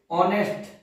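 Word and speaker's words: honest: ऑनेस्ट। क्या पढ़ेंगे इसको? एच। जो ये जो एच है वो क्या है? साइलेंट है। इसको क्या पढ़ते हैं? ऑनेस्ट बोलते हैं।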